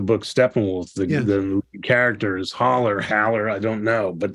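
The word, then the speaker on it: Hole: whispering to myself uh I've always said his name is Hower but it's holler right um cuz I know someone with the same spelling and they pronounce it Hower it's been funny can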